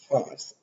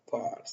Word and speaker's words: Fars: And two important Persian provinces, the Fars or Pars. So it is spelled differently.